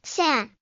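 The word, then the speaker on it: 山: Take the character mountain. It's onyomi is san.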